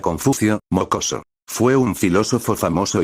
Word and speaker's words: Confucio: y se pronuncia Confucio, mocoso.